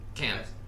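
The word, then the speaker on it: Cannes: Stars in glamorous gowns often peacock on the can's film can. It's pronounced can yeah film festival red carpet.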